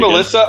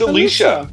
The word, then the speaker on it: Alicia: Is her name Alyssa or Alicia? I think it's Alicia. What? It's Alicia. It's Alicia. Where's the E? She's Russian. They pronounce it Alicia.